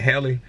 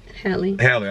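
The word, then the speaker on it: Halle: Haley, how you say her name? Haley. Hallie, I'm sorry.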